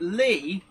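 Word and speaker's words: Leigh: Now, Scan Man saying, "Are you saying Lee or Leed?" Right. Lee, but spelled differently. is spelled L E I G H. And in that funky way that Brits have, it's pronounced Lee.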